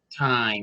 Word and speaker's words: thyme: this movie is called wild mountain time time which is spelled t-h-y-m-e this is a 2020